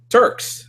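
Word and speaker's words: Tarks: not 100% sure uh Turks so how am I saying your name were I just pronounce it tark's doesn't really matter go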